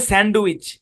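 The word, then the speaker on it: sandwich: আরেকটা শব্দ যেমন দেখেন এই শব্দের মধ্যে ডি টা সাইলেন্ট আমরা খাই অনেকে আমরা বলি স্যান্ডউইচ স্যান্ডউইচ না স্যান্ডউইচ স্যান্ডউইচ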